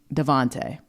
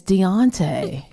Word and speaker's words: Deonte: Then I thought I said then I thought I heard just like Devont. And then finally, one of my friends said, "His name is Deonte."